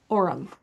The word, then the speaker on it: Orum: She's been on the Fox News Will Kaine show and other interviews to share how UATX or University of Austin, Texas and ORUM, is that how you say it?